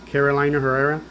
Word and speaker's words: Carolina Herrera: Carolina Herrera.